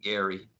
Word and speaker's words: Gerry: el elbridge gary and he pronounced his name gary g-e-r-r-y but anyway the supreme